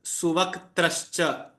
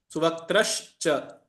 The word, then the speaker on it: सुवक्त्रश्च: This word here is suvaktrascha. Suvaktra. Suvaktrascha. So how do you pronounce? Suvaktrascha. S-U su V-A-K vak trash T-R-A-S-H trash cha C-H-A.